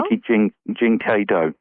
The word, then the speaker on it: Reiki Jin Kei Do: Well, what I'm really curious about is when you talk, and I certainly hope that I pronounced that correctly, it's Reiki Jin Kei Do or Kido. Reiki Jin Kei Do.